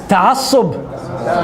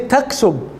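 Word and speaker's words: تعصب: Because they turn the ayn into a hamza, right? Actually, ta'assub. So they say taksub Actually, with a K. Right. This is a big problem because you are changing the letter, right? From the ayn to the hamza. So technically you change the letter.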